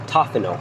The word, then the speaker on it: Tofino: That's how you say it, Tofino.